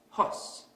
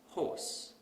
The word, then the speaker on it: horse: So we might pronounce this word as hos instead of horse.